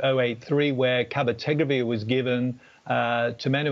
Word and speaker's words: cabotegravir: Pozniak, a drug which I will mispronounce, is it cabotegravir? That is cabotegravir.